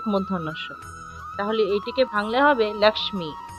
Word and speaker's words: লক্ষ্মী: হয় ক যোগ মধ্যস্ তাহলে এটিকে ভাঙলে হবে লাক্স্মি লাক্স্মি তারপর দেখুন নমোস্তুতে এখানে দেখুন লুপ্ত আছে এখানে